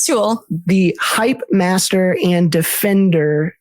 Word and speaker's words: Tul: I said it wrong with Lyndon. It's not Tul. Tul. It is Tul.